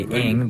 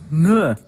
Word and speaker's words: Ng: Most people say ing, but apparently that's wrong.